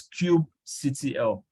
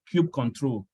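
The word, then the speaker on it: kubectl: up a worker node itself so what is Cube CTL or cube control Cube CTL is spelled this way pure CTL now this is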